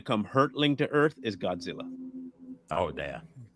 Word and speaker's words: Gojira: hurtling to Earth is Godzilla. Oh, damn. You got to say it like that. How do you say it? Gojira. Gojira. It's Gojira.